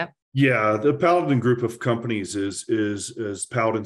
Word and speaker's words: Paladin: the heroic efforts that you're doing at it's Paladin, right? That's how you say it? Yeah, the Paladin group of companies is Paladin Security, which many people in the Canadian market are very familiar with.